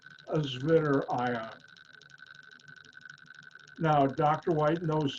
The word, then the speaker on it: Zwitter: It's Zwitter. In German, W is pronounced like a V.